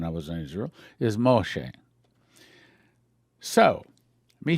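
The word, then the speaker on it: משה: of the water moshe we say moses but the correct israeli pronunciation i learned that when i was in israel is moshe so let me say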